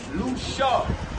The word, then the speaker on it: Lucia: So Lucia, Lucia, we pronounce Lucia.